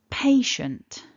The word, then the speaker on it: patient: in the middle so we've got pay as syllable one and shun as syllable two the blue Mark top left tells us that syllable one is our strongest syllable so we want to